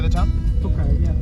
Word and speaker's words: Tokaj: Tokaj, is it? How do you say the town? Tokaj, yeah. Tokaj.